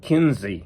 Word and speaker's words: Quincy: of the museum video she pronounced it Kinsey which was in interesting I'm not going to change my pronunciation I'm just going to say John Quincy Adams but it was interesting that I guess it's pronounced John Kinsey Adams and maybe even the